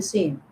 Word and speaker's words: س: Then sin. Sin alif zabar sa, sin waw pesh su, sin yazir si, sa su si, za and sa same pronunciation. I mean mukharij, same mukharij, exit of the point.